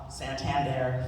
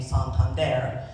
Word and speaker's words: Santander: When they first get here, they'll pronounce it the English version way of their name. Santander, for example, became Santander.